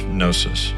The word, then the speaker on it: gnosis: case may be prognosis except the g is silent so it's gnosis pro no it's a